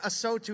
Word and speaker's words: AOTU: Automotive State of the Union or aotu is how you say it um we've been talking